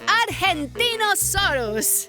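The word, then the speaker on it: Argentinosaurus: evo i'm angie the argentino soros whoa that is a big name for a big dino i have to break it up to say it right our gen teen oh sore us that's me so i'm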